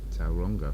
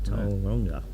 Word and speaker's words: Tauranga: You've got to pronounce Tauranga like Tauranga. Tauranga. Tauranga.